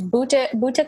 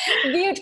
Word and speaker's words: Butte: rural area such as Buta County. Is it Buta County? Is that how you pronounce it? Are you saying Butte County, maybe? Yes, Butte. Yes, Butte County.